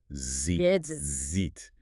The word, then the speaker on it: ZJIT: Yes, preferred pronunciation is zit because and I quote it sounds more like zed.